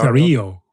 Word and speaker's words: Dario: um both Sam and Daario. Daario, do we say is that how pronounce his first name? Dio. Dario. Dario. Dario. Uh like Dorito.